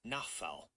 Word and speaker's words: Nofal: His last name is spelled Nofal, but it's pronounced Nafal.